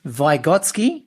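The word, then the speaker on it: Vygotsky: the person that you focused on was Lev vigotsky is that how you pronounce it that's correct y great and he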